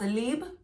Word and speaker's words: Libre: In French, it's pronounced Libre.